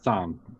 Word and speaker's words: Chthon: You have that one guy who I am really thinking is Mephisto, or one of the other was it Chthon? Whatever. Thon. The C is silent.